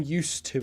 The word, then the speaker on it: used to: used to it now we don't pronounce the D like I'm used to it no remember what I said about the pronunciation use I'm used to it I'm used to it now yeah well